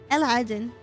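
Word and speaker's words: علاء الدين: By the way, if you were to pronounce it to pronounce it in Arabic, it would be Aladdin. Alhaden.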